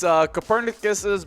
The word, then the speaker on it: Copernicus: Oh yeah, well, it's Copernicus's birthday.